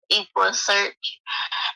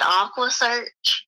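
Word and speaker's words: EquuSearch: tired of he he he mispronounced equa equa search and he said Aqua search he screamed I'm so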